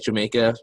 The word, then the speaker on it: Jamaica: We'll foresee it termed Jamaica, just like Jamaica, it's pronounced in Spanish.